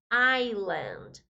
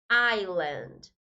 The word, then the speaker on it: island: Então, ilha é island. Cuidado com essa palavrinha. Apesar de ter a letra S, nós não pronunciamos ela, tá? Island.